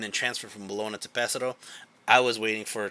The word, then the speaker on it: Pesaro: And when we went to Pesaro, that's honestly how they say it, Pesaro. The Italians say it.